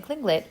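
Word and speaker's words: Tlingit: said he was a klinglet indian pronouncing clinglit proudly with the clicking of his tongue as of saying klinglit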